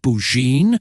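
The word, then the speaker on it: Burgoyne: had a famous foxhound named bergoin he pronounced it bouin which my informant used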